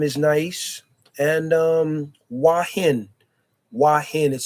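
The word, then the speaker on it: Hua Hin: Wah Hin is spelled h u a h i n.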